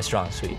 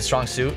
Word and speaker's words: strong suit: games just are my strong sweet so strong sweet is a strong suit yeah is it really yes I've been saying it wrong my whole life